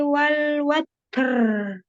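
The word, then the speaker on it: الوتر: Wasyafi'i wal watr. Hmm. Kok jadi watr apa? Ro diucapkan dengan ra la rohim. Ketika sukun pun ya. Kalau sebelumnya fathah atau domah tafkhim.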